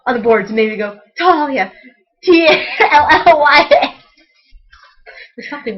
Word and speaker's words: Tahlia: So I'll write Talia, T-A-H-L-I-A, and then in parentheses, T-A-L-L dash Y-A, parentheses.